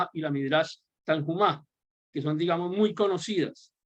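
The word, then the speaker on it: Tanhuma: Y están esas dos colecciones que les mencioné, la Midrash Rabbah y la Midrash Tanhumá, o como la quieran pronunciar, pero con J, una J muy suave, la pronuncian ellos.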